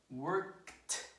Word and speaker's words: worked: So again, stop, one syllable, stopped, one syllable, no extra syllable. Work, one syllable, worked, one syllable, no extra syllable. Okay? So there is no stoppage and there is no workage.